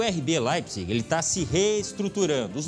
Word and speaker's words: Leipzig: O brasileiro fala Leipzig, mas a pronúncia é Leipzig.